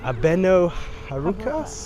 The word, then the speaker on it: Abeno Harukas: to be going up the how do you pronounce this car abeno harukas heras yeah so we're going to be going